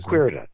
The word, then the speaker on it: Strikwerda: Strikwerda.